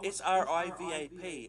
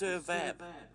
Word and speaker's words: Sirvap: But you got to remember, I was SRIVAP, and the other ones didn't even spell it right. It's Sirvap, not Srivap.